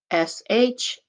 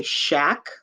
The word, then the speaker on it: shake: Now, if it didn't have the magic E or the silent E, it would say shack, but we want it to say shake. So we put that silent E at the end that makes the A say its name.